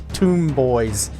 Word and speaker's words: Tomboys: Tomboys, but pronounced tomb boys.